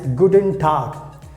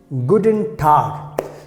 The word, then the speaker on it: Guten Tag: greet someone by saying guten tag so this is you have to keep in mind and just uh keep in mind this g will be pronounced like a car but don't worry we